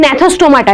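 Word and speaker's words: Gnathostomata: এই ভার্টিব্রেটা থেকে দুটো সেকশনে নামবে, অ্যাগনাথা এন্ড ন্যাথোস্টোমাটা। জি is silent, ঠিক আছে, কিন্তু জিটা আছে।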